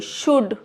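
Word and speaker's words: should: डी से पहले एल है, नहीं पढ़ेंगे। शुड।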